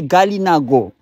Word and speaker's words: Kalinago: Parce que comme j'ai montré à un moment dans les définitions du mot Kalinago, il peut être prononcé Galinago.